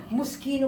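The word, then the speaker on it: Moschino: friend Ay set din muskino muskino muskino pala ang ano pronounce muskino at kalimutan yung tag alisin basahin mo.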